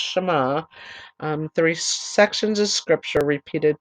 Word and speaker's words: Shema: six words began the Shema pronounced as I said it's pronounced Shama three sections of scripture